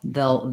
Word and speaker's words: they'll: more like were or veil becomes a little more like vel they'll they'll be busy um so yeah you can do both they'll they'll be busy it sounds just fine it's correct you'll hear sometimes that more of a reduction where the ale becomes more just l-vel um good question thank you